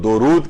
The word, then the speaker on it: درود: کیا جائے گا وہ درود کیا جائے گا، دال کے اوپر پیش ہے، دال کے اوپر زبر نہیں ہے۔ اچھا، اب درود کے لفظی معنی کیا ہیں؟